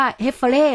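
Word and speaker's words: Häfele: บริษัท เเ ครับ ผม อ๋อ อ่าน ว่า เฮเฟเล่ เหรอ คะ ครับ สระเอ ฮอ ฮูก ครับ ผม ใช่ เฮเฟเล่ ใช่ ครับ โ ค่ะ ดี นะ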